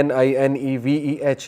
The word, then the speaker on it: Nineveh: نینوا اس کا تلفظ ہے NINEVEH.